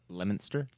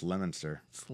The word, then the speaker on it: Leominster: came up here and he said I'm at a hotel in Leo Minster and I was like what and I was like well it's lemon sir I can feel it